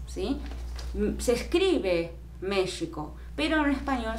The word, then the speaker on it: México: escribe méxico pero español se debe leer méxico como si fuese con jota no méxico méxico no es la forma correcta de pronunciar en español en inglés probablemente pero no en español ok se conservó ese